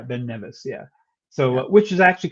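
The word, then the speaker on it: Ben Nevis: How do you How do you pronounce it? I do. You say Ben Neas. Nevice. Nevice. Nevice. Nevice. Okay. Thank you. Yeah. Ben Nevice.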